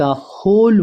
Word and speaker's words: होल: The Sant replied, साधु ने जवाब दिया, उत्तर दिया, सर, श्रीमान, द होल वर्ल्ड। दोस्तों ये होल नहीं होता है, डब्ल्यू इसमें साइलेंट होता है, इसे होल बोलते हैं।